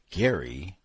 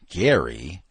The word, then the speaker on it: Gary: Americans have a way of changing my perfectly Russian name. Gary meaning burn in Russian as in burn baby burn into a typically American Gary by shifting the accent from the second to the first syllable.